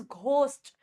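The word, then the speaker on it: ghost: लेकिन अगर मान लो मैं स्टार्टिंग में लिख दूं, GH को वर्ड की स्टार्टिंग में लिख दूं, तो ये क्या साउंड देगा? ये घ की साउंड देगा, जैसे इट इज घोस्ट, ठीक है।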